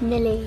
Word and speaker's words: Millie: have this cookie milly my name is millie it rhymes with tilly and also this video